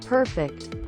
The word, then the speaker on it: perfect: Note the stress. Perfect.